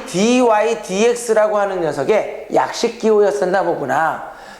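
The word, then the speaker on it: dy/dx: 이 dy dx 또는 dx분의 dy라고 읽어도 되지만 선생은 앞으로 dy dx 이렇게 부를 거야.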